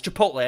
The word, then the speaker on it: Chipotle: I was calling it Chipotle. I don't know why. It's Chipotle.